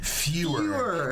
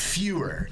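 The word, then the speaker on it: Feuer: in Los Angeles and his name is fer f e u e rer yes fewer I said it wrong at the he's and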